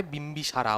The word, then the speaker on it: Bimbisara: লেখো BIMBISARA, মানে বিম্বিসারা, ওরা এরকম করে বলে তো উচ্চারণ, বিম্বিসারা, ঠিক আছে, হর্ষঙ্ক ডাইনেস্টির।